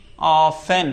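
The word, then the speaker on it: often: हमने लिखा ओ एफ टी ई एन ऑफेन ना कि ऑफेन गलत हो जाएगा।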